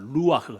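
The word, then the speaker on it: רוח: 루아흐. 따라합시다. 루아흐. 원래는 히브리어 발음은 이렇게 뭐 이런 게 많아요.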